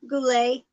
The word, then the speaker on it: Goulet: say your last name Goulet you don't pronounce the T right it's kind of like French uh uh I'm still